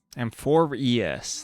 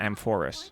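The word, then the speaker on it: Amphoreus: Amphorius. That's how to pronounce it, not Amphorus.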